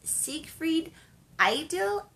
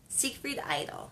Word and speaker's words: Siegfried Idyll: the entire week is Siegfried idyll idy Oh Siegfried idyll is what I I would say um it's a very